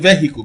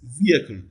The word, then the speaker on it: vehicle: You call it vehicle, but that's not how to pronounce it. It is vehicle. Vehicle. Clearly, the first syllable here receives the primary stress.